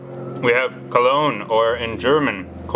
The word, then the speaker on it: Cologne: for the city called Cologne and that's why this word may be sound so French and in German pronounce cold but in English we still pronounce the French way cologne cologne has a